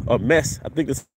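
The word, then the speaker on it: meze: serve a lot of the dishes something called mesa a mess i think this is how you pronounce it m-e-z-e and it's basically a small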